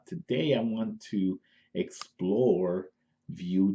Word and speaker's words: Vue: then recently I start hearing about beauty is pronounced well spelled View vu e so it seems pretty people let's